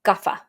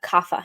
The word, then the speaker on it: Kapha: on and then finally you have gafa we pronounce that kafa here in the west so gaffa is someone